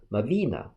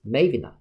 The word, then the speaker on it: Mavina: The more popular ones stress is in the second syllable read as Mavenina, while the other stress syllable is in the first one, read as Mavenina.